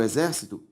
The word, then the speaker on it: exército: se eu separo o exército exer cito a sílaba tônica é a anti penúltima por isso uma palavra proparoxítona se eu separo lâmpada lâ a sílaba tônica é a anti penúltima e por isso lâmpada